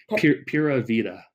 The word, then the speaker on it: Pura Vida: How do you pronounce that? Pura Vida.